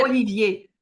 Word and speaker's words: Olivier: name might be like Olivier. Is that Olivier. and I It's almost Oliver always in love English. well, honey. It's What? Oliver in English, but it's Yes, but Olivier in French.